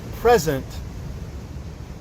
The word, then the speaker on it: present: This third present is actually pronounced a little different.